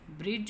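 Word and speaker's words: bridge: पर के साइलेंट इसमें ब्रिज में डी साइलेंट है ब्रिज ऑनेस्ट में एक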